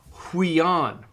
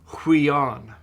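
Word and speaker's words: υἱόν: And it's down on the third line, it's huion. So you look and you can see one diphthong and one single vowel, so that tells you there's two syllables, and it's got a rough breathing, so it's huion.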